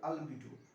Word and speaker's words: albedo: अल्बिडो अल्बिडो अल्बिडो इसके लिए जो शब्द यूज किया गया है अल्बिडो, BEDO अल्बिडो।